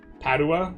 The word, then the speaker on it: Padua: Padua, the accent is on the A.